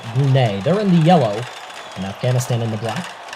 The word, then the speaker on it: Brunei: Or Brunei, depending on how you want to pronounce it, but here on Marble Fubica, we're going to pronounce it Brunei.